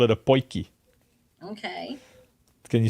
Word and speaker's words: potjie: Here in South Africa, we call it a potjie.